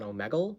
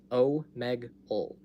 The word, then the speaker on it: Omegle: A lot of people pronounce it Omegle, and I don't understand how this is possible because on the website itself, it shows you how to pronounce it. It says O-H-O-M-E-G, Meg, U-L-L, ul, O-Meg, ul. That's how it's pronounced. That's what the creator of the website says. That's how the creator would pronounce it.